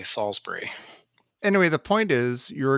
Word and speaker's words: Salisbury: strong here so so if you are local you would probably pronounce it saul's berry like we try to we try to up the class a little bit and we say salisbury anyway the point is